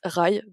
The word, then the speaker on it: Rhy: qui est le prince rails et plusieurs prononciation on n'a pas tous dans n'est pas tout dans la même team mais ça s'écrit rhj grec donc moi je dis rail qu'un personnage que j'ai